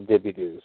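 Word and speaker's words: DeBordieu: de bordeaux you know looking french and it's pronounced the dippy doo so um you know that's whatever that's south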